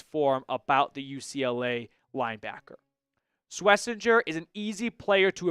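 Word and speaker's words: Schwesinger: But, it was a very good season for Swissinger. And I am pronouncing that correctly, by the way.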